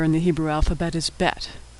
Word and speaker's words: Bet: The second letter in the Hebrew alphabet is Bet. Bet makes two different sounds, B as in boy, or V as in victory.